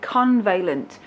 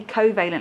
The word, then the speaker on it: covalent: Quite a lot of you accidentally call it convalent. There is no N in that word. It is definitely covalent, like coconuts, covalent.